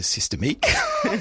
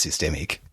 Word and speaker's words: Systemiq: You went to Systemique. It's actually just systemic because I looked them up on YouTube and that's what they all say.